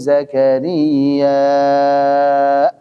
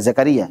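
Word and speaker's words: زكريا: ketemuikru rahmatiikahmatiikrahmati bacanya begituikrahmatiikahtiikaahu zakarya bukan Zakaria Zakaria ad sudah selesai untuk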